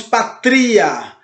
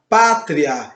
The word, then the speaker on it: pátria: Nós não dizemos patria, aonde o i ficaria mais forte. Nós temos uma palavra pátria.